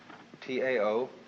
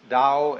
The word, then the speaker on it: Tao: So their principle of nature is called a Tao, T-A-O, pronounced Dao in the Mandarin dialect, Tao in the Shanghai dialect, To in the Cantonese dialect.